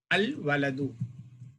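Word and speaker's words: الولد: If wow preceded by alif lam, we will pronounce the lam. Al-waladu, the boy.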